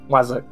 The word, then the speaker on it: wazzock: It's spelled W-A-Z-Z-O-C-K, Shan. Wazak.